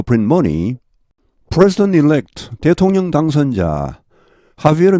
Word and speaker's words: Javier: money, President-elect 대통령 당선자 하비에르 밀레이, 스페인어에서는 이 저희가 H로 발음납니다.